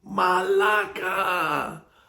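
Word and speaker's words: μαλάκα: to say to him, Malaka! You're going to put the accent on the second A.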